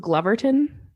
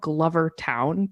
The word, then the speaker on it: Glovertown: So my last story is the story of I think it's pronounced Gloverton. It's like it's spelled Glovertown, but I think Gloverton.